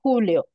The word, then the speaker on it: Julio: It's because I believe it actually in Spanish we write Julio like with a J and we pronounce Julio.